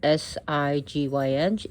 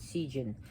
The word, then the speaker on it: Sigyn: Her name is spelled S-I-G-Y-N. It is pronounced Sigyn, not Sigyn, but Sigyn.